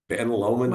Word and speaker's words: Lomond: Lomond? Ben Lomond High School.